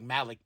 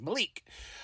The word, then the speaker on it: Malik: Found out I've been saying his name wrong. I was like Malik Blade or something like that, but I apologize. Malik.